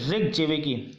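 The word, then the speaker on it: Reykjavík: अब आप इसको कैसे भी प्रोनाउंस कर सकते हैं अपने हिसाब से, ठीक है। इसको रेक जेवेकी बोला जाता है।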